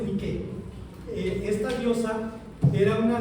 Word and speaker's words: Nike: Se se escribe, este, se pronuncia como se escribe en griego, Nike. Este, yo sé que los que quieren ser elegantes dicen Nike, pero no, en griego es Nike.